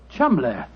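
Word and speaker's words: Cholmondeley: Being an American, he had no reason to know that the name Chuml is in no way pronounced the way it is spelled. Oh, Joe, I never thought of that. Chumlay.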